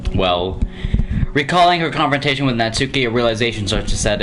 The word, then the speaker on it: Natsuki: myself do that also i don't get why people say natsuki like natsuki because i think that's the japanese way of pronouncing it or something it's like why the are these americans pronouncing it like natsuki it's natsuki oh hey kargasm there